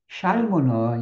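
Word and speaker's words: ŝalmo: 우리가 이제 에스페란토로 발음을 잘해야 돼. 살모가 있고 샬모가 있어. 살모는 연어를 말해. 고기 생선이에요. 근데 샬모는 여러분 빨대예요, 이게.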